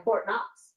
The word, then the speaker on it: Knox: What you did a little deep dive today on Fort Knox. That I did. The interesting thing about Fort Knox is that the K is silent.